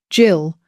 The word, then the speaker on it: gill: A gill, pronounced jill, was half of that a quarter pint.